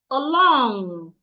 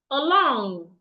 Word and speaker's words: along: Another word, if you have a word that has 2 syllables and the word is a preposition, you should also stress the second syllable.